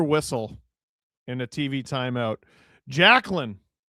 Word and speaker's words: Jacqueline: Jacqueline, which Jesse always insists is pronounced Jacelyn, the way that you spell it.